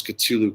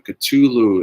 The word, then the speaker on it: Cthulhu: cthulhu the actual name so the catulou is a sea monster in the hp lovecraft mythos and uh it's spelled so you can't even say it with an english tongue c-h-t-u-l-u-h-u whatever but k-t-u-l-u